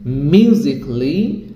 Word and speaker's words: musically: Kelly, it should be cli, that means romantically, musically, logically, artistically, physically, critically. So let's pronounce these words again and again.